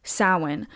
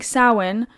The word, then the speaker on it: Samhain: Now I'm saying sin. It is spelled Sam Hayne, but it's a a a Celtic word. So I I'm pretty sure it's like the Irish alphabet. Yes. So it it it's not it's not the same way that it's spelled the way that it's said.